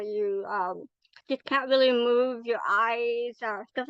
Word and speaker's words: Mobius: do lot or you um just can't really move your eyes stuff like that which I don't